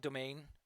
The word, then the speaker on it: demesne: It's called domain.